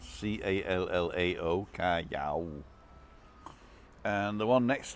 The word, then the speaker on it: Callao: So I'm at the Terraza El Hable in Callao Salvaje.